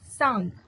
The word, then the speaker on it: Tsang: थी उसका लिखा है life of Hyun, T silent रहेगी, सांग लिखी है, जो हर्षकालीन भारत की दशा के शताब्दी के अंत में भारत आया था।